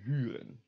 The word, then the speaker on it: huren: So you say E, and around the lips, U, E, U, U, U. Remember how to do that because it will be important later. So these words will be pronounced huur and huren.